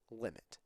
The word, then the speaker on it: lim: how to pronounce them the first part is the lim and that is just pronounced limit i usually do my